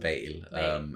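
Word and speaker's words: hval: Another one of those silly silent letters. Yeah, like the H, you don't really just veil.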